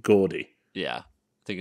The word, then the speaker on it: Jordy: So next we have The Lonesome Death of Gordy Verrill. Yeah. Is it Gordy or Jordy? I think it's... I mean, it's spelled with a J. Yeah, but I've heard Stephen King pronounce it Gordy.